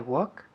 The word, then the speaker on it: walk: I walk where he walks. Good. Walk. La L no se dice.